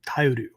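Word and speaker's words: 耐える: This kanji, we pronounce it Tai, but it comes from the verb taeru, Taeru, if you're writing out notes, right?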